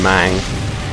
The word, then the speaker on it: Meng: For some reason, it's Meng is pronounced Mang. It's like that with Lu Mang as well.